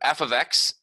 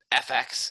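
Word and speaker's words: f(x): this thing right here this F parentheses x thing it's pronounced f of x so it's not just FX it's F ofx and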